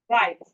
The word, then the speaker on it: write: We have it more like right. Right. The W in this right is silent.